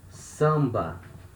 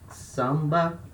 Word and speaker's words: samba: kind of musical genre so here we have letter a or litra before letter m so and in there they are at the same syllable so letter a here we have the nasal sound ah samba can you notice the